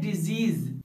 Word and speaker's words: disease: इस वर्ड का साउंड होता है डिजीज और इसका मीनिंग है बीमारी, जबकि इस दूसरे वर्ड का साउंड होता है डिसीज और जिसका मीनिंग था मृतक या मैयत।